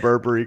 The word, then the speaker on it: Burberry: I'm so glad you're saying it right, Adam. It's warming my heart right now. The half British side of my heart is getting warm. Like you're saying Burberry correctly.